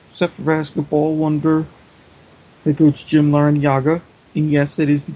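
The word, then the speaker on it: Larrañaga: ex SE for basketball wonder the coach Jim Len Yaga and yes that is the correct way to pronounce his name even though even he has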